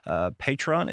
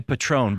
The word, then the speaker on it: Patreon: Follow us over onto Patreon. Is Patreon, right? I always say it wrong. I think that's the southern pronunciation. Patreon. Yeah. I wanted to say Patron, but I know that's not right.